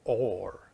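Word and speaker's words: אור: is light, Aor, or Or. It's pronounced Or. That light is pronounced with Aleph, Vav, and Resh.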